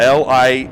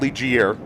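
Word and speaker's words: Ligier: where they're most known it's spelled l i g i e r yeah it's not lier no you learned that lesson though it's Li and uh pretty cool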